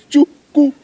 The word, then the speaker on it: Chuku: My name is not just Chu. He's Chuku.